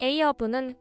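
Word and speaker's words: Ahab: 선장 에이허브는 구약성서에 등장하는 폭군의 이름이다. 구약에는 아합이라는 이름으로 등장하는데 에이허브는 아합의 영어식 발음이다.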